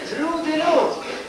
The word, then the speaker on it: Rue de l'eau: Ma si legge Rue de l'eau, vorrei dire via dell'acqua, Rue de l'eau.